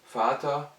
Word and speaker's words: Vater: F comme en français, mais avec un V qui en allemand se prononce toujours V, et ces mots-là sont alors prononcés F alors qu'ils sont orthographiés avec V.